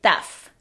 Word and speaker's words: tough: Así se deletrea en IPA. Y así lo puedes deletrear tú para recordar su pronunciación. No está lejos de tough.